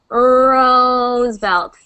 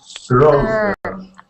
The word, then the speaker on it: Roosevelt: Roosevelt. Roosevelt. Yes. Roosevelt. Roosevelt. Roosevelt. Good, good. So see how far back my tongue is when I make that R sound?